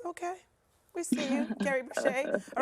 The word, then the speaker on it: Bishé: He believes that our last name is French. He grew up pronouncing it differently, and then he sort of discovered some history and decided it was Bishé when he was young.